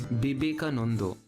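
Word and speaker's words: বিবেকানন্দ: It's Bibekanando. And therefore, because the Shwa is present in every word of Bengali, the O sound is abundant.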